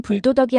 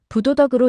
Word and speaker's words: 부도덕: 참고로 아닐 불안자 뒤에 오는 한자의 발음이 디귿 지으 시옷으로 시작하면 아닐불은 불로 읽습니다. 예를 들면 부도덕은 불도덕이 아니라 부도덕으로 읽고 부정은 불정이 아니라 부정이고 부실은 불실이 아니라 부실로 입습니다.